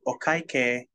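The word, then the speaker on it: お会計: When you want them to bring you the bill, you would say, okaike, okaike, K is fine, K. You can say it like the letter K, because it's K-E-I, K.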